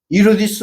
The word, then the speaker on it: 이로디스: 증축 46년 동안 이로디스 왕에 의해서 개혁성경에는 헤롯이라고 되어 있지만 헤롯이 아니고 엘라어로는 이로디스 왕입니다. 이로디스. 헤롯은 라틴식 발음이고 성경은 라틴어로 기록이 되어